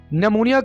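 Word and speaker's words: pneumonia: नमूनिया को इंग्लिश में हम नेमोनिया ही कहेंगे। दोस्तों यहाँ पर हमने पी को साइलेंट रखना है, तो हम कैसे बोलेंगे? नेमोनिया।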